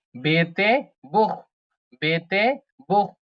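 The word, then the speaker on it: Buch: বে বে বে বেতে বুখ বে উ সে হা বুখ বু বে উ সে হা বুখ বেতে বু বু মানে বই সেহা এর আগে যদি উ থাকে তখন খ এর মত উচ্চারণ করতে হয় হ্যা এবং আ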